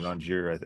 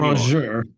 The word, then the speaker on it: rongeur: So your like you'll pronunciation, Rongier, I think you're doing it different just to mess with me. But keep going. Keep going. I'm finding it distracting, but the continue on. rongeur, the rongeur.